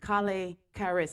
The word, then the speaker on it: Colle´ Kharis: music for the night, Colle Kharis. Yes, pronounced Collay Karis.